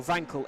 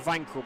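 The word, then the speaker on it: Wankel: to consider is um the Wankle engine or Vankele engine. You got to you got which is it? I'm reliably informed that it should be pronounced Vanqu, but then I feel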